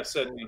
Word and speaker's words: Sedney: Is that how you pronounce it, Greg? I always ask because I'm self-conscious about it. Yeah, Sedney.